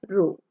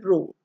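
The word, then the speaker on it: rho: हम क्या बोलते हैं रो आर एओ एट साइलेंट होता है बोलते हु इट कॉल्ड रो तो रेडियस ऑफ कर्वेचर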